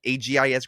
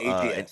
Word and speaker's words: AGS: Is it AGIS grading, or how do you say the name? Correct me if I'm wrong. I know that's It's an AGS. AI AGS, sorry, excuse me there. AGS grading.